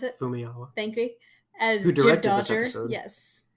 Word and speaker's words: Famuyiwa: Please pronounce it. Fumiyawa.